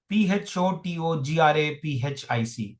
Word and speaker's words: photographic: So the the pronunciation goes like this. It's filteric f graph graphic I've written I've written this along with the uh you know as I was writing the transcription I've given you the syllable division also all right photographic and graph is the is the stress syllable.